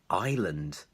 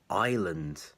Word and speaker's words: island: of another but actually in English the S is silent so it's not ice or Iceland it's island island okay so the S